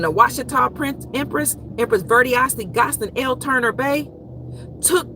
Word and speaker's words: Verdiacee: Say her name. Verdiacee. Some people call her Verticee.